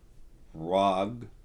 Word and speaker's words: Rh'ag: he okay he's um rag the H is silent it's RH apostrophe AG um rag he's um